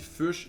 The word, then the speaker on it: Fuchs: ben, Premièrement, en plus, moi, je suis le seul qui dit Fuchs prononcé comme Fuchsia.